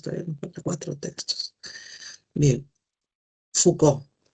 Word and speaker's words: Foucault: Foucault. Eso se pronuncia Foucault. La o u en francés se lee u y a u o FCO.